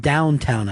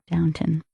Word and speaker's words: Downton: He did That's a little pronounced Downtown Abbey. Oh, Downtown. Excuse me. Downtown Abbey. Downton.